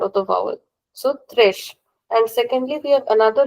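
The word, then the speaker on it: três: So three is thresh. You have to remember that it is thresh and is very important because going forward we'll learn a similar word which is similar but the word is actually different. So we have to remember that this one is thresh.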